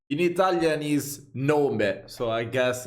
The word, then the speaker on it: nome: In Italian is nome, so I guess it's always similar in every language.